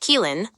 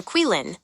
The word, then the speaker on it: Caoilfionn: The name, Caoilfionn, pronounced Keelan or Quilin, depending on who you ask.